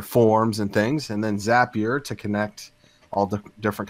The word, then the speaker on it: Zapier: you think oh it's zapier wrong it's pronounced zapier because the owner weighed himself told me zapier makes you happier how it works right